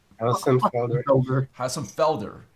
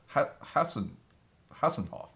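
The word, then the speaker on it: Hossenfelder: Hassenfelder. I keep on wanting to say Hassenhoff, but that's not right.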